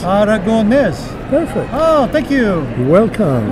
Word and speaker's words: Aragonés: Aragonés. Aragonés.